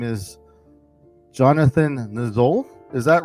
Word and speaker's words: Niziol: have a new guest his name is Jonathan nul is that right or how it's pronounced Nel but it's kind ofy because it's not pronounced